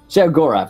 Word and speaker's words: Sheogorath: Sheogorath, isn't it?